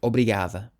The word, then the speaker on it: obrigada: But if you're a female, you would say instead obrigada. Obrigada. So you change the O to an A.